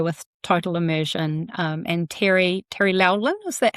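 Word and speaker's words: Laughlin: And so some people who are listening will be familiar with Total Immersion, and Terry Lowlin, is that how you pronounce his name? Yeah, Terry Lachlan.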